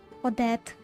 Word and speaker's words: Odette: Okay, that's how you pronounce it. Odette. Okay. हम तो oddity पढ़ रहे थे, what the heck?